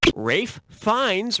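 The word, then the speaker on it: Ralph Fiennes: Rafe Fiennes rhymes with Safe Pines.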